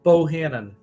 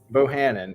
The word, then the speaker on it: Bohannon: How do you pronounce your last name? I don't want to say it wrong. Bohannon. Bohannon.